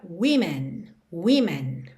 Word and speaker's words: women: Women é W-O-M-E-N, ou seja, oficialmente, na escrita, o que muda é a segunda sílaba, mas na pronúncia é a primeira sílaba que muda.